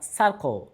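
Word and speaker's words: circle: নয়, এটার উচ্চারণ কেন সেন্টার, কিংবা এই শব্দের উচ্চারণ কেনই বা সার্কল কেন কার্কল নয়, অথবা এই শব্দের উচ্চারণ কেনই বা সাইকেল কেন কাইকেল নয়?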